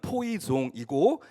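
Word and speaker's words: poisson: 그 푯말에 쓰여져 있는 포이즌은 영어로는 포이즌이라고 읽을 수 있지만 프랑스어로 읽으면 포이종이고 그것은 독극물이 아니라 낚시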